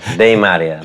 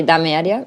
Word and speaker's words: Dame Area: This this name pronounced really bad. Yeah. De Maria de Maria Daria and people ask you what it means.